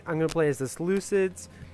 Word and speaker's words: Seleucid: gonna play as the Seleucids I know other people say saluted empire the game says saluted empire but I prefer the Seleucid pronunciation I don't know